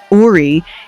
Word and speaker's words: Ori: In the Yoruba spiritual tradition, Ori, pronounced Ori, is your inner spiritual head.